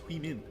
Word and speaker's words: Huimin: Her name's not Human, it's Huimin, Eugene.